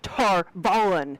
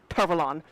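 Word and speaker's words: Tar Valon: So like the the first season of the show, I I was the person going, "No, it's Tarvalen. It's Tarvalen. It's not Tarvalon or what, however they say it."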